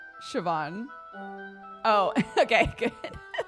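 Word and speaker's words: Siobhan: recently and both times I've originally called it saan and chat's been like that's an Irish name that is not how you pronounce it so it's burned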